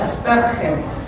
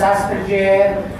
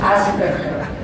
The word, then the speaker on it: Asperger: La pronunciación es Asperger, porque Hans Asperger era alemán, entonces la pronunciación no es Asperger, no es Aspi, no es nada, es Asperger.